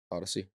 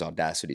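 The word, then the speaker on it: Audacy: Bradford of Odyssey Sports I think that's how you say it right Odyssey Odyssey yep yeah I always used to think it was audacity Sports Rob Bradford of Odyssey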